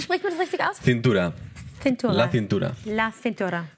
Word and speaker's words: cintura: Das ist, genau, mein Cintura ist meine Hüfte sozusagen. Ja, und wie spricht man das richtig aus? Cintura.